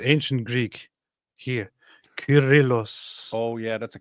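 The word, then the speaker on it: Kyrillos: Curillos. Oh, yeah. That's a K. Curillos. Curillos. Alexandrias. So if now in the English-speaking word people pronounce it as sirill because they uh pronounce the C as both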